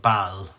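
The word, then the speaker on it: Balla: roses so i went to a town called baal people are not for irish it's not it's it's spelled b-a-l-l-a but pronounced went into the church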